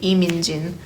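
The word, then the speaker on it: Min Jin Lee: here, is Pachinko by Minjin Lee. I guess like the Korean name or pronunciation would be Lee Min-jin.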